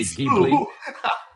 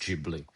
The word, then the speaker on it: Ghibli: have trouble saying Studio Ghibli because it's actually pronounced Studio Ghibli but we always in Italy we say Gibli I didn't know up until now.